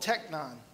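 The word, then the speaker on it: τέκνον: There's a specific one used here, and it's called technon. That's the Greek pronunciation of the word children.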